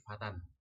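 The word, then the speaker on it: فتًى: Maka solusinya adalah alifnya tidak dibaca, ya, dihapuskan dalam pengucapannya. Artinya tidak dibaca alifnya. Meskipun tulisannya masih ada. Contohnya misalkan di sini dari kata al-fatah, ya, dari kata al-fatah ini ditanwinkan menjadi fatan, ya, fatan.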